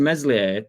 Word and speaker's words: Meslier: to be fair to meslier silent s he I can't remember